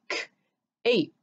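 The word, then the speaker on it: cape: And this E is silent, gives its power to the A to say its name, so we have k-ape.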